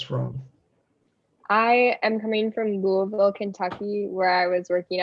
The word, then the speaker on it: Louisville: in louisville yeah and it's louisville not louisville right definitely yeah you can tell when someone's an outsider if they say it like that that's right well welcome